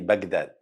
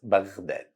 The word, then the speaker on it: بغداد: Don't say Baghdad, it's Baghdad.